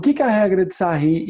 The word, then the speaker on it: Sarrus: Já ouvi falar é mas se pronto se pronuncia regra de sair é francês o cara a sahir ele tá